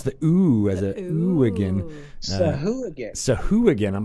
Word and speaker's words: Sahuagin: We used to be Sahagwin is how I thought it was, but you pronounce the ooh as a ooh-agin. Sahuagin.